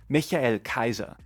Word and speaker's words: Michael Kaiser: In my defense, the Japanese rendition of the name actually approximates the German pronunciation, Michael Kaiser.